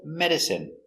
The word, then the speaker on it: medicine: take a closer look our first example medicine pronunciation is in medicine medicine medicine is not